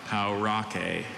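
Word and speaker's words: pauraque: Or is it any of the 20 pronunciations? I have just the one, Paurake.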